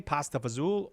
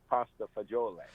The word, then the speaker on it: pasta fagioli: in an Italian restaurant, should I say it the Dean Martin way, pasta fazool, or that other way? I would say pasta fagioli.